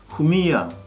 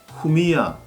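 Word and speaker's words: Jumilla: 이 스페인 와인 용어에서 특히 발음에 주의해야 할 부분은 바로 LL 두 개가 겹치지는 경우인데요. 이 경우에는 야라고 발음이 되죠. 후미야, 템프라니오, 파레야다처럼 LL이 두 개 겹치지는 경우에는 Y로 발음을 하시면 됩니다.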